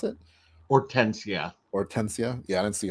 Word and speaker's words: Hortensia: Or how do you pronounce it? Hortensia.